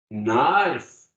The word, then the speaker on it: knife: Knife. We don't pronounce the K.